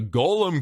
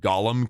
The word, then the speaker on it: Golem: the Golem King and I know some of you pronounce it Gollum king that's wrong you don't pronounce Gollum Gollum with it it just it's just wrong okay don't pronounce it with with a u that that's a character